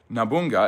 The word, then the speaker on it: Nobunaga: Nobunaga, which is the is it Nobunaga? Nobunaga, I think is how you say his last name.